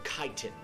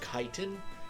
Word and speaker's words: chitin: Or chitin is, I think it's pronounced chitin. I've always said chitin.